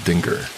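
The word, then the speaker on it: dingir: He said it was an old Sumerian sign called dinger. She pronounced it like danger but with two eyes and that it meant like god or deity.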